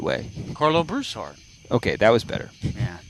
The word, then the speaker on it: Broussard: yeah thank you actually when i moved out of louisiana yeah to washington state i had to learn how to pronounce my last name in a different way so that people actually understood what the heck i was saying so i had to say broussard carlo broussard i would actually